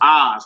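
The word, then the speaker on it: אז: So Oz, like the Wizard of Oz, Oz, it means then.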